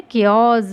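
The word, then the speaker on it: chaos: केओस, इसमें क्या H silent है, केओस मीन्स अराजकता, ये भी प्लूरल वर्ड है।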